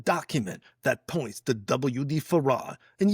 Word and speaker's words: Fard: that points to WD Faradr. And yeah, it's farad, not far. Okay, for those people making those comments, huh? Farad, huh? Two syllables, man. Not far.